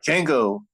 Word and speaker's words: Django: Where Django's talking to the man at the bar and he's like, "My name is Django." The D is silent and the guy's like, "I know."